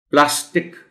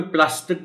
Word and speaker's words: پلاسٹک: لوگ بول دیتے ہیں۔ پلاسٹک، اردو میں پلاسٹک بول دیا جاتا ہے، لیکن یہ لفظ چونکہ انگریزی سے ہم نے لیا ہے اور زیر زبر کا فرق ہم کیوں ڈالیں، پلاسٹک اگر ہے تو پھر پلاسٹک ہی بولا جائے۔ سیال، سیال یہ کے